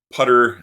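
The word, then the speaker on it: ptr: So as we go down the linked list, putter, as Arthur Dwyer pronounces it, putter is our temporary pointer.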